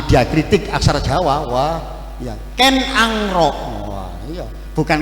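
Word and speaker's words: Ken Arok: ya Tumapel ya bukan Tumapel ya Tumapel kalau bacanya Ya karena kalau kita ngomong sama orang yang ahli diakritik aksara jawa Wah ya Ken angro Wah iya bukan kenaro Ken angro dan Kendedes bukan Kendedes soale aksara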